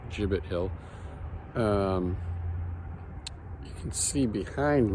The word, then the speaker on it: Gibbett: off on a little Adventure today today I in Groton Massachusetts at a place called jibbit Hill I believe that's the proper pronunciation um I believe it's a soft G I was corrected by